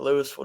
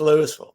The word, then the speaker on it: Louisville: We pronounce it Louisville down here. It's kind of different. Everybody thinks it's Louisville, but it's Louisville.